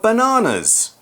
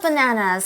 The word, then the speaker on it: banana: Yeah, I should point out I'm pronouncing the word in a more British way. We do say banana, whereas Americans, I guess, would more say like banana, something like that. But both ways are fine.